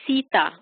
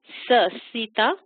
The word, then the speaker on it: Sita: No, so Lord Krishna's, Lord Rama's wife, her name is Sita. Sita. And Shita is different. It's completely different.